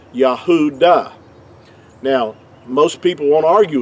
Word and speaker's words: Judah: our English we say juda which is totally inaccurate because there's no J sound in ancient Hebrew but the word Judah